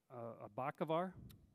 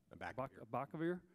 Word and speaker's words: Abacavir: of the drug Abacavar, how to say it? Abacavar? Abacavir, a drug commonly used for treating HIV infection.